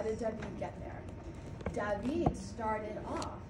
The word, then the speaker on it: David: Looks like David, but it's pronounced David.